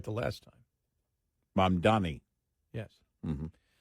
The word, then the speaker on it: Mamdani: Mamdani. Yes. Mm-hmm. It's just or the proper pronunciation, communist.